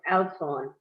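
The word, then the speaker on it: Oudtshoorn: And I didn't know how you say it, so I looked it up on Google, got good friend Mr. Google, and they gave me the breakdown on the pronunciation. So it's Outzhorn.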